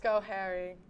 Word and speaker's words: Schoharie: Schoharie. That's correct. Oh my God. Schoharie. I have the pronunciations written down on my phone because some of these are confusing as well.